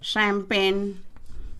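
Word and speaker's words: champagne: अब आगे बढ़ते हैं श उच्चारण वाले शब्दों को, जैसे मशीन, ब्रोशर, शैम्पेन। यहाँ CH हम पढ़ते हैं और लिखते हैं, लेकिन इसका उच्चारण हम शैम्पेन, श करते हुए हम इसे पढ़ेंगे शैम्पेन।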